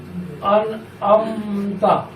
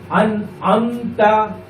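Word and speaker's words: أنعمت: আর এখানে যে একটা কমা দেওয়া আছে, এই কমা দিয়ে বোঝানো হচ্ছে যে এটা কিন্তু আলিফ না, এটা আইন। বাংলা উচ্চারণে এটা বোঝানো হচ্ছে যে এটা আইন, এই জন্য এখানে একটা কমা দেওয়া হয়েছে। আর যদি কমাটা না থাকতো তাহলে বুঝতাম কি এটা আলিফ।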